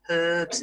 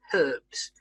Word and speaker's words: herb: meat sauces seasoning spices herbs and whatever ok so just notice how I said herbs in Britain we pronounce the H herb in America they don't pronounce the H and they say herb